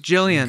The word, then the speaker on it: Gillian: gillian jacobs gillian jacobs it's pronounced jilly it's pronounced gillian it's pronounced jillian yeah okay i think